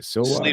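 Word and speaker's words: Sliwa: Uh, and Curtis Sluwa, is am I pronouncing that right? Silwa SWA.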